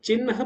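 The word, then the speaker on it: चिह्न: confuse क आता है जैसे हा के नीचे ना लिखा हुआ है तो अभी चिन्ह पढ़ा जाएगा इसको चिन्ह तो कन्फ्यूजन रहता है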